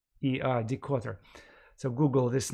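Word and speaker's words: Dikötter: read a book by Decotter. He is an English-American historian who currently works in Stanford University. His name is spelled with double T, Decotter, D-I-K-O-T-T-E-R, Decotter.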